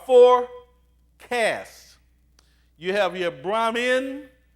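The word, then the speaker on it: Brahmin: cast you have your brammen now emphasize Min i n Bram men for there's Brahman and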